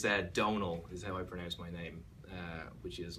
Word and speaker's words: Domhnall: that but it's that Donal which is like tonal but with the D instead of a T and the M is just there to confuse Americans as I was saying